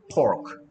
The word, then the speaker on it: pork: Pork죠, pork. P는 입술이 붙였다 떨어지면서 P 소리 됩니다.